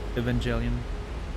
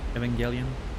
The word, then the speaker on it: Evangelion: Reminds me of the penguin in um Evangelion. Evangelion. I never know if it's a soft or hard G.